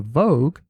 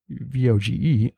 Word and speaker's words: Vogue: If swords come back into vogue, VOGE. I'm wearing it daily. So look out for this man. Mr. Moore? He might be open carrying this I think futuristic it's pronounced Vogue.